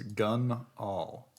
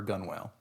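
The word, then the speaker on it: gunwale: Dad says it is gun all for gun whale.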